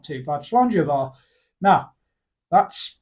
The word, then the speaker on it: Slàinte Mhath: more appropriately gar I would say it is pronounced slanga yeah I'd go that's not too bad slanga now that's not too bad now we'll try